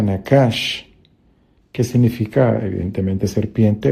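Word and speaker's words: נחש: Y la palabra serpiente en hebreo se pronuncia nakash, que significa evidentemente serpiente o susurrador, el que susurra.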